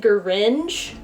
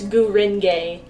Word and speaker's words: Gurenge: amount of anime, and I was pronouncing it Gringe, which doesn't make sense, but that's just how I was saying it in my head, and I was like, no, it's Gurenge.